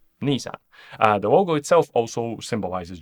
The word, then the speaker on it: Nissan: Nissan comes from the first syllables of the two words, so NIhon SANgyo, Ni-san, Nissan.